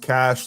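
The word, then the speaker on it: Kash: It's pronounced cash like money when you when used I think is context.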